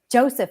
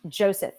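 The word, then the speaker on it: Yosef: in Hebrews Joshua Joshua Joseph is not pronounced Joseph it's like Joseph Joseph y-o-s-e-f p-h is Greek so what's Jesus it's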